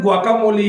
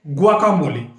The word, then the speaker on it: guacamole: अब जाहिर सी बात है गुआकामोली है क्या, इसका प्रोनाउंसिएशन गुआकामोली है, बट वर्ड है GUACAMOLE। आई रिपीट, GUACAMOLE और प्रोनाउंसिएशन है गुआकामोली।